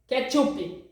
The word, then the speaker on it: ketchup: wrongly in Portuguese it's ketchupi yes it's written the same way but here in Brazil we say ketchupi and kiwi the fruit